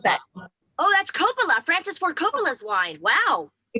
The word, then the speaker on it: Coppola: i'm drinking just just wine how do i pronounce that oh that's coppola francis ford coppola's wine wow costco really yeah